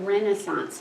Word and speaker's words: Renaissance: Does anyone know what Renaissance means? Renaissance is the French word. Renaissance, c'est la Renaissance. In fact, the British say it, Renaissance. They say it closer to the French. We say Renaissance.